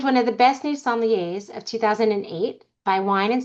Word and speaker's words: sommelier: The way that I always say it is if you ever forget how to pronounce sommelier, it's sommelier, there's wine here.